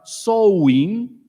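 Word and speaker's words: Samhain: Los celtas celebraban una fiesta que ellas lo ellos la pronunciaban sou, pero en realidad se escribe Samin.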